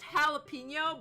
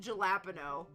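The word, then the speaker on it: jalapeño: you have jalopeno I okay I know it's pronounced jalapeno but in my brain I always pronounce it galapo like and then sometimes it comes out as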